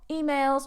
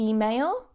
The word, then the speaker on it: email: To spam means to send spam mail, emails or messages to someone. To email, and mind that stress because I hear email, okay? Mind the stress.